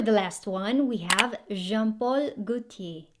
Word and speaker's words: Jean-Paul Gaultier: last one we have jean-paul gutier so silent l and r and then very small mouth with a very deep voice when i'm sexy if